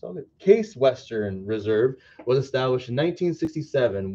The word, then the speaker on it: Case Western: has entered the fight chase western is a private research university in cleveland at ohio case i have been saying it wrong it's all good case western reserve was established in